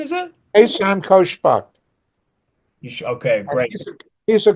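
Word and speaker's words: Ehsan Khoshbakht: Conversations with, how do you pronounce his name? Isan, is it? Ehsan Koshbak.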